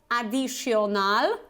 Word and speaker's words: additional: let's see additional additional so first of all it's not additional okay it's additional additional so you have this